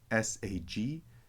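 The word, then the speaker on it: ܣܓܝ: Syriac doesn't have that, but we know grammatically that it's saggi. Western pronunciation doesn't do it as much, but in Eastern, it's very clear.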